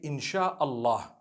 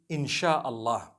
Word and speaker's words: insha Allah: s-y-a they pronounce it they pronounce the s y the way we pronounce s h so they can write